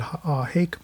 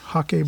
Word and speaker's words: Hake: This is the Ron Ranson Hake brush. Some people pronounce it Hake brush, Hake brush. Works for me either way.